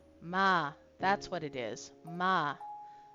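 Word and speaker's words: まあまあ: Ma means so-so, okay? It's not mama, it's ma. You gotta add the extra A sound at the end of each of those. Otherwise mama becomes, otherwise you're saying mama.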